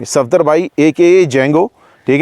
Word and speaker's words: जेंगो: डी इसमें silent नहीं है, डी है ही नहीं इनके जेंगो के अंदर, तो सफदर जंग है, तो जंग से इन्होंने जेंगो अपना जो है वो नाम बनाया।